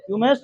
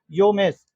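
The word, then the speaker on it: Womesh: उमेश चंद्र बनर्जी, योमेश, योमेश नहीं, डब्ल्यू नहीं कोई। अगर हम तुमको बोले कि क्या लिखा है, पढ़ता है ना, ये साइलेंट हो जाता है ना, वैसे डब्ल्यू वहां पे साइलेंट। हाँ, उसको हम लोग क्या पढ़ते हैं? कनाइट नहीं पढ़ते हैं, कनवा लेज नहीं पढ़ते हैं, ये साइलेंट होता है। वैसे इसका भी डब्ल्यू क्या है? साइलेंट।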